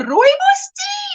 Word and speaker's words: rooibos: Do you want coffee, English tea, or rooibos tea?